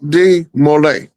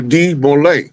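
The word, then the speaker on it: de Molay: His name look up Jock D Mole. Okay, if you just type in demo mole cuz it's spelled D E hyphen M O L A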